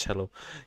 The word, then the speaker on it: cello: Oh, cello is pronounced cello.